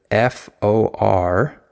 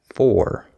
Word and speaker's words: for: So for example, the word FOR is usually not stressed in English. So we don't pronounce that as for. We say for, right? I say, for example. I don't say, for example. You hear that? There's a difference.